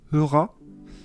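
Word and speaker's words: Höra: Alors, je vais vous l'épeler parce que moi, je dirais que ça s'appelle Heura. Parce que ça s'écrit H-O avec deux petits points tréma. C'est tréma, ça, avec les deux petits Ouais. points. R-A.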